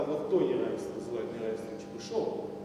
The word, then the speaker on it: Чебышёв: Но, поскольку это только пишется, то нет, то вот его иногда Чебышев, но он именно Чебышев.